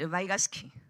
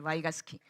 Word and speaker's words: Vygotsky: I summoned Vygotsky, or in English pronunciation, Vygotsky.